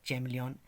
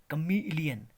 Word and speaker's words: chameleon: फिर है CHAMELEON. इसको हम पढ़ते हैं चैमलियन, चैमलियन, मगर चैमलियन इज the wrong pronunciation. It's correct pronunciation is क अ म ई ल इ अ न, कमइलियन, कमीलियन, कमीलियन, कमीलियन.